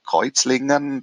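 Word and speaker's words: Kreuzlingen: constance and uh or kuizlingen that's the german how to say the swiss city um on the other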